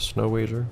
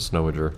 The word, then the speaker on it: Snow Ager: to come from my I would be pronounced a snow wager but it's just what I always did but no it's a snow a jerk in fact oh those